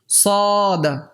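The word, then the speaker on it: صاد: সদ, রানীর পালঙ্কে স সি সু, সদের উচ্চারণ কিন্তু সিনের মতোও না, শিনের মতোও না।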